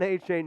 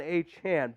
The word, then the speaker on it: Achane: to later on about how he wants his name to be pronounced so on Sunday it was Devon AJ now it's Devon H hand but let's look at